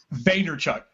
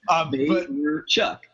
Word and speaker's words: Vaynerchuk: I like how he pronounces it on his show, and I'm like, oh, that's a great way to, like, you break it up. It does kind of make sense. Vaynerchuk.